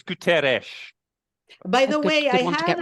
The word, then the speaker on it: Guterres: I think it's Guterres. I'm not an expert in Portuguese, but I believe it's pronounced Guterres. I remember someone once, because I always pronounce it Gutierrez as well, but I believe, Are there any Portuguese speakers among you? No, but it sounds logical to me, and for sure there's no I before the first.